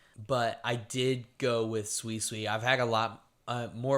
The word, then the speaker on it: Suicune: Well, my favorite water type is the good old dog boy himself, Suicune. That's how you pronounce it.